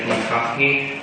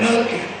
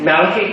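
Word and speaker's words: Machachy: It's spelled M-A-C-H-A-C-H-Y. Looks like Makahi, and Michael Lavin. So do correct me if you know how to... Malachi. I'm sorry? Malachi. Malachi? That's who you pronounce it?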